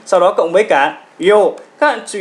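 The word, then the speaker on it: よう: Yo, yo, chứ không phải là ro nhé. Là yo, các bạn kéo dài lên một chút, chứ nhiều bạn là đọc là ro là sai nhá.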